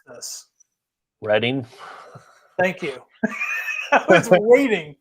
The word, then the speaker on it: Reading: So how do you guys pronounce this? Reading.